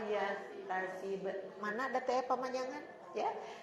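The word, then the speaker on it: يحتسب: Barang ibu tadi bacanya tasib enggak panjang ibu la yahtasib.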